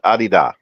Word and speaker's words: Adidas: It's a German shoe, and in Germany, it's pronounced Adidas.